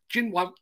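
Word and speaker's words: Xinyuan: brand is not actually it's x-i-n-y-u-a-n and they go out my local chinese restaurant assures me it's pronounced gin one um i could really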